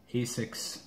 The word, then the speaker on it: ASICS: Got the Asics, that's how you say it, gel too.